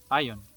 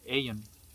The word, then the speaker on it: Aion: point in describing and calling it ion uh or aan depending on how you want to pronounce it or Ian so but that what